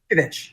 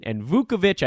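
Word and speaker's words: Vučević: Is it Vuce? Yeah, Vucevic. Okay, good. Vucevic, I hear, and Vukovic, I know that's not right.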